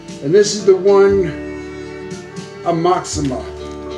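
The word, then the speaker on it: Aoxomoxoa: this is the one amoxima is how i pronounce it everyone pronounces it different i think a-o-x-o-m-o-x-o-a it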